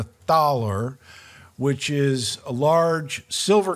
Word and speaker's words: Thaler: to us from Germany the taller it's it's spelled like it's the thalor but it's the thaler which is a large